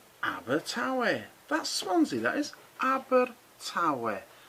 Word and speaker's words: Abertawe: This one is pronounced Abertawe.